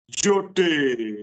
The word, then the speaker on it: जोटे: जोटे, जोटे, वो आपने सही प्रोनाउंस कर दिया।